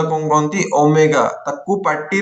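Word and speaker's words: ω: कहंती गोटे ए जो सिंबल टा कोन कहंती ओमेगा ताकू पार्टी रे ओमेगा कहबो एडे खाता रे ओमेगा लिखिबोनी एटा कोन उच्चारण प्रोनाउंसिएशन पे लिखिली प्रोनाउंसिएशन माने तो पार्टी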